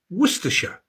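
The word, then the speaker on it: Worcestershire: So what about Worersha?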